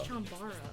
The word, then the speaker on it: Chambara: chambo yeah is it is it chambara or is it chamb it's chambara I always say chambar I don't that sounds that sounds more correct than chambar why can you